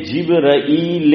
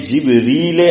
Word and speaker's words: جبرائیل: بولنا صحیح ہے۔ کچھ حضرات بولتے ہیں جبرائیل امین، اور کچھ بولتے ہیں جبریل امین، دونوں صحیح ہے۔ دلیل کہ جبرائیل، ہم تو عام طور پہ جبرائیل ہی بولتے ہیں، جبریل حمزہ کے بغیر تلفظ صحیح کہ مولوی صاحب دلیل